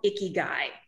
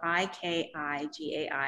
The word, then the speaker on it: ikigai: this word it's called icky guy and it's a really funny word it sounds it sounds like ooh is that guy icky no it's it's japanese and it's spelled i-k-i-g-a-i have you heard of